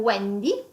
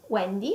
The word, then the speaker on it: Wendy: le w nous avons Wendy Wendy et Wilma aussi et vous voyez que wendy et wilma ont deux prononciations différentes ok donc du w dans un cas dans Wendy est prononcé comme `` u '' et Wilma comme